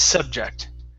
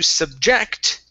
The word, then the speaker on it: subject: First up, you are correct in pronouncing this as subject, but that would be a noun, okay? Here, this is a verb, okay? And when we say want to subject, okay, this is like cause someone.